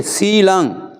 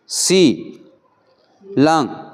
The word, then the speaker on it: सील: शील शील नहीं है शील यह स नहीं है सी लंग सील पाली भाषा में सिर्फ